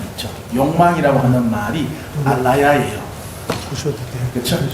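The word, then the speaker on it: ālaya: 예, 아레아식이라고 쓰는데 그가 원어로 발음을 하면 알라야 이렇게 돼요. 알라야, 알라야예요.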